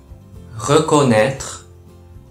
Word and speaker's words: reconnaître: reconnaître reconnaître と発音します。